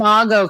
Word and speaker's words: IMO: I realized I didn't ask you how to pronounce that. IMO Consulting. IMO Consulting.